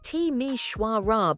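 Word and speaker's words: Timișoara: Let's start our journey in Romania with Timishora, a city that most people can't even pronounce correctly. It's Tishwarra, by the way.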